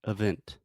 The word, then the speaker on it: event: You could pronounce event, but only if the stress changes.